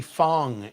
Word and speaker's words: Fong: Tiffany Fong. F O N G Not Wong. W NG.